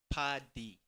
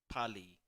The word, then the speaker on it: Pali: Because his surname is spelled Pali, and me being James thought it was Pali, but it's Padi.